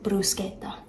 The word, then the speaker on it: bruschetta: from a full-blooded Italian I do also say bruschetta just because you know it's what you hear all the time but the the technical pronunciation is brusa anyways I don't know